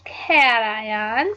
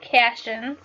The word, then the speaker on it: cation: electrons which are negative positive ions are called cation some people will pronounce that Cashion's they're mainly gonna be